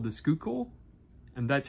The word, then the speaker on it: Schuylkill: think there's a river in Pennsylvania called the Schuylkill, and that's how the locals pronounced it, Schuylkill. So, yeah. If somebody knows otherwise, please let me know down in the comments. But according to Google, it's pronounced Schuylkill.